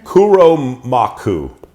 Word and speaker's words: Kuromaku: This is like Kuromaku. I think that's the name. I think that's how you say it. Oh, is it right on here? Mm-hmm. It is. There you go. Kuromaku.